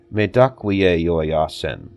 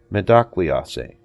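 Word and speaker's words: Mitákuye Oyás'iŋ: In Lakota, the words are pronounced Medakwiye Yoyasen. A shorter version is also used, which is pronounced Medakwiase.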